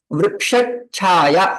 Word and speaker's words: वृक्षच्छाया: So, vriksha chaya ऐसा ना बोलते हुए वृक्ष छाया ऐसा बोले, तो उसके लिए रूल्स है.